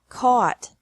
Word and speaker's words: caught: buy bought bought catch caught caught fight fought fought seek sought sought teach taught taught think thought thought remember that the g is silent in these verbs verbs with three different